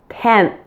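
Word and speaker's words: tenth: sound before the th you'll actually pronounce the final n in those words with your tongue sticking out as we're getting closer to making the th so take a look here 9 10 did you notice my tongue is out when I'm pronouncing the N and the th so that makes it pretty easy doesn't it you can easily combine the end and the th because your tongue is out for both now let's do that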